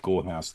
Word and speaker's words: Gorehaus: I mean, please do look up Gorehaus now, and you'll see it's fairly indescribable, but it's just vibrant colours, uber violence. It's spelled like Bauhaus. So it's Gore Haus.